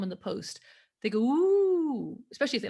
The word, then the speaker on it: ooooo: Well, I've got to first of all say the ooh bit. I mean, this is a lot of fun. It's actually spelt with 5 O's, 5 oohs, and it's pronounced Ooh.